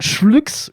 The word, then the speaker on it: CHVLKS: artiste qui s'appelle CHVLKS, soit Schlux ou Cheveleux que ce. Donc vous le prononcez comme vous voulez.